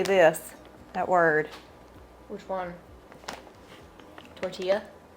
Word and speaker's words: tortilla: Tortilla? Tortilla. Gus? Tortilla, technically. Tortilla. Storm. It is tortilla. That's how you pronounce See, it.